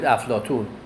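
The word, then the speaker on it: افلاطون: In Farsi we call it Aflatun, with the T pronunciation, not Ta pronunciation in Farsi.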